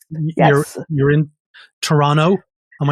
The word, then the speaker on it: Toronto: in Toronto not Toronto yeah we have to say it right and and actually there's another the indigenous pronunciation I have not mastered the indigenous pronunciation of Toronto is ticaranto I think yeah very